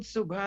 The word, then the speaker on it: subha: Subha, so the word subha and subha kamanai, I'm pronouncing it in Trinidad Bhojpuri, is actually shubh in Hindi, and is shubha kamanai. But there's no sha in Trinidad Bhojpuri, it's sa.